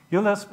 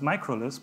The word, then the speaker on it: uLisp: uLisp is actually pronounced uLisp. I pronounced this microLisp. He corrected me. I found online that many people discussed, no, it needs to be microLisp. It's a small u, like microcontroller. It's not. It's uLisp.